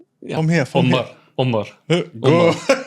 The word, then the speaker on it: Omar: How do you pronounce it, Tom? Uh, Amar. From here. From here. Omar.